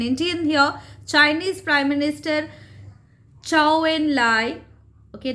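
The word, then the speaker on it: Zhou Enlai: it properly okay so don't uh mention it as chow in lights not chow mean and nothing it's ciao and lie okay so there's a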